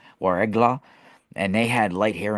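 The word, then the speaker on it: Ouargla: they're called the the it's spelled w a r e g l a warla and they had light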